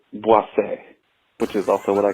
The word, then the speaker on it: Boise: Just to beat the dead horse, I wanted to let you know that it's not pronounced Boise or Boise. It's pronounced Boise, which is also what I call my asshole.